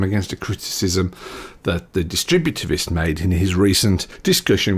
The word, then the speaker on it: Distributist: Chesterton, and I needed a D word, and Distributist was a really good choice. So I've heard lots of mispronunciations, but I really like Distributivist.